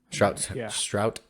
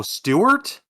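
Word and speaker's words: Stuart: just a deep understanding of just the character Shrout Townsend is an Irish actor yeah how do you spell that uh strout s-t-a I'm sorry s-t-u-a-r-t and then Town send press t-u-a-r-o Stewart wow I knew straw was wrong but I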